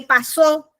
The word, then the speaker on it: pasó: puntuación y la acentuación no es lo mismo decir paso a que pasó porque paso no lleva acento en la o pasó lleva acento en